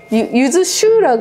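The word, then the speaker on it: 柚子酒: use that , but in Japanese it's not called yuzu sake, and It's pronounced yuzu shu , so it's a different [the most famous drink in Korea.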